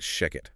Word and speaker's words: Shechet: voice generators running this, please make sure to pronounce that Sheket rhyming with chicken.